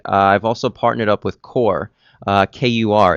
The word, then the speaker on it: Kur: Core, it's spelled K-U-R.